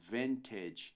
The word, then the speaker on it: vintage: não dizemos vintage ou vintage mas sim vintage ventage vintage ponto de acesso Olha só esse I